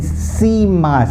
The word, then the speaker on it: cima: C followed by an I has a S-E-E or a C sound. Okay, as in cima, C-I-M-A. Cima, pronounced like S-E-E-M-A, cima.